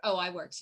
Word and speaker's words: iWorks: I noticed in the proposal for the, what is it, iWorks, is that how you pronounce it? Yes. iWorks, yeah.